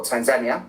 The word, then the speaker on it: Tanzania: did K Kenia and Tanzania or Tanzania as as the locals say it and I did a